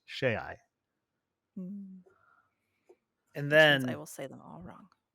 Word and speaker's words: Shai: why she said my name is Shay, because she pronounced it using the Airlon, or the Aeonic alphabet, which you pronounce all of the vowels in the long. So SHAI is Shay.